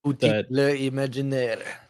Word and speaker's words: Imaginaire: Want to thank the folks over at Imagineer, I think is how it's pronounced, or maybe there's a French accent to it. I'm not sure. Um, Imagineer exactly, uh, for